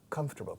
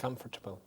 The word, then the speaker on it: comfortable: Comfortable. No. Comfortable. Se pronuncia comfortable. Comfortable. Se escribe, por supuesto, confortable. Pero las 4 sílabas se dicen en 3.